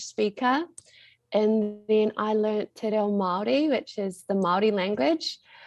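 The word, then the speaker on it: Te Reo Māori: So I picked up, you're saying Te Reo Maori. Am I pronouncing that kind of right?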